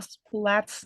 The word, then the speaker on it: Splat: should we read a splat's name um how to pronounce it in English yes flat the s p and l at the beginning all smushed together splat can you try